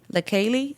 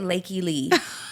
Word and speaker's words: LaKaylee: you- That's how you pronounce her name? LaKaylee, yeah. I was pronouncing it Lakey Lee.